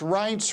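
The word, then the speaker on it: Reince: tell us a bit about that well its rights rhymes with paints Priebus and thank you for promoting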